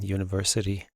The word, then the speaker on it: university: Billy is looking at a or an university. Spelled with a vowel, but not pronounced with a vowel sound.